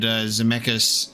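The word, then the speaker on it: Dzemekys: That's the first time we've had Zemeckis said out loud, so we finally get the actual pronunciation of that, which is what we could kind of assume, the silent D.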